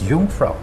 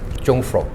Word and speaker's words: Jungfrau: They used to pronounce as Y. So instead of, I can see that a lot of people they used to call it Jungfrau, but the actual fact, the Swiss people, they're very common.